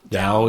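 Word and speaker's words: DAOU: Was it Dow? How do you say it? Dow is there. D-A-O-U.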